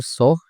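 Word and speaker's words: ソ: そ、そ、 The pronunciation of character so in Japanese is something like the combination of SOH in English.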